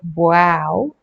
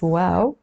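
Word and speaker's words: واو: do the letter wow it's not like wow like something that's wow it's wow but if you want to remember it you can you know just pronounce it wow okay so the name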